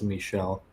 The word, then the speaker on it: Michael: Okay, but you still pronounce Michael as Michel. That's just a French thing.